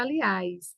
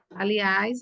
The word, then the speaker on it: aliás: Aliás não é proparol aliás é um oxítona a sílaba tônica é a última aliás né certo então